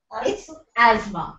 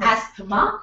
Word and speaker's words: asthma: a breathing disorder a disease what is the pronunciation Asma yes it's Asma it's not asthma it is Asma pronounced as as Asma when